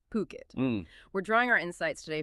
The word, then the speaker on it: Phuket: That's ph u k and it's pronounced puket. Definitely not fukquet as some might mistakenly say, it's puket.